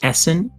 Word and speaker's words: essen: character name will be essen and that's yiddish for to eat plus it's two syllables and i think it